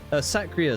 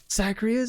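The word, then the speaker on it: Sacrier: P the outcry saas sakria sorry that's how that's how it's pronounced sakria a companion based and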